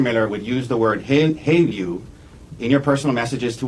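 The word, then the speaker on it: HALEU: HALU. HALU.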